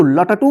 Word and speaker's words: लट्टू: तो इसको क्या पढ़ेंगे लट्टू इसको लटटू मत पढ़िए लट्टू ये किसका आधा रूप